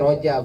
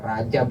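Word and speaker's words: رجب: Ya, sebenarnya nyebutnya Rojab. Ya. Ro dibacanya ya ro, nggak mungkin Rajab gitu. Rojab, bulan Rojab.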